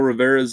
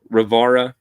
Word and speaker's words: Rivera: Yep, Phil Rivera's in there. Rivara, I should say. That's the way it's supposed to be pronounced.